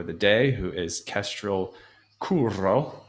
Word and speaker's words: Curro: day, who is Kestrel Curro. I'll pronounce it with the rolled R.